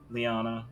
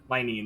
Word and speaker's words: Linene: head nod bow towards Liana. Liana? I'm sorry, this name fucking destroyed. Linene. This name destroys my brain. I know, you said it wrong earlier, and I was just like, do I have her schizo correct you, even though I know you said it correctly?